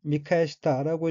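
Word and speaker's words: 見返した: 다음 오는 한자가 견반이고 불견 돌이킬 반자이고 일본으로는 미카시타라고 읽으며 미카시타는 디도라보다 다시보다 뒤바다보다 마주쳐다보다는 뜻의 타동사인 미카에서의 과거형으로 미카에시타는 뒤바다 보았다 마주쳐다 보았다 하는 의미입니다.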